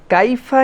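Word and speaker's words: كيف: 2 নম্বরে কাইফা, এখানে মনে রাখতে হবে কাইফা, এই যে ইয়াটা, এটাকে বলা হয় লিন। আরবিতে একটা কায়দা আছে লিন, এটা হচ্ছে নরম করে উচ্চারণ হবে, ইয়ার উপরে সাকিন, আগে যদি জবর হয় তাহলে আমাদের জন্য এই ইয়াটা কাইফা এরকম যেন না হয়, কাইফা, কাইফা, মানে এটা একটা নরম হবে, লিন।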